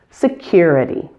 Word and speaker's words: security: This word doesn't look long, but it has 4 syllables. Primary stress is on the second syllable, cure. The main thing to watch out for in this word is to make sure to insert a Y sound before the U, cure.